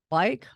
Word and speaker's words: Bike: from Sao Paulo, Brazil, and they are called Bike. I don't know if you pronounce that correctly.